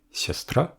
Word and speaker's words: сястра: Mais dans la version du singulier, siastra, l'accent est sur le a final.